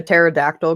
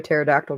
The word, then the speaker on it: pterodactyl: can't you hear a pterodactyl go to the bathroom why can't you hear a pterodactyl go to the bathroom because the p is silent there's a p at